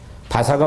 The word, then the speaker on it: 바사: 이게 사실은 영어로 페르시아라고 써 있지만 우리 한국말이 더 정확해요. 히브리어로 바사가 훨씬 이 원어 이 발음이 가깝거든요.